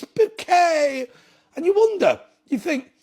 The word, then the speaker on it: Bucket: Bouquet, "It's Bouquet!" And you wonder, you think, it's quite interesting, isn't it? Why did she want the name Bucket pronounced Bouquet? The reason is because it sounds more French.